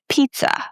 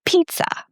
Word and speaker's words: pizza: So in the word pizza, the t and s give this very weird sound. Pizza. Repeat after me, pizza.